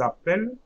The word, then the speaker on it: appellent: So ils appellent, okay, I'm not pronouncing ENT, ils appellent, elles appellent.